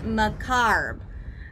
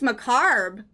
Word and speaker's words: macabre: describe something that is related to death and pronounced macarb oh it's pronounced macarb it doesn't look like it should be pronounced